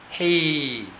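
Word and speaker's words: ה: 이게 지금 헤이, 발음을 그렇게 합니다. 헤이, 약하게 해요.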